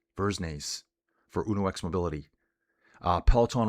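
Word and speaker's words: Dversnes: D with a V. Silent D. Vernes. Vernes.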